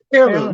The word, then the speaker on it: H3irloom: So let's talk about the number 3 in your H3irloom Food Group, because you have to pronounce it some way. So yeah, H3irloom.